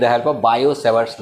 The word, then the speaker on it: Savart: ठीक है, और उसके बाद बायो सेवर्ट, ये 2 साइंटिस्ट थे। ठीक है, फ्रांस के, इसका टी प्रोनाउंस नहीं होता, और ये सेवर्ट 2 हैं।